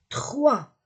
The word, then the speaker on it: trois: pas le X 2 3 je ne prononce pas le S o i 3 4